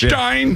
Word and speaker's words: Hartenstein: Hartenstein, which is also how Mike Breen says it. Yeah, right. He was doing the German thing. Well, I think that's the way it's pronounced. Hartenstein.